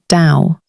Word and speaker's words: Tao: Everything in Lasu's teaching rests on one central word, the Tao, pronounced dao.